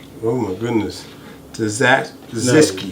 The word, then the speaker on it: tzatziki: No, the T is silent.